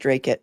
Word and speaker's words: Dracut: It's pronounced Dracut.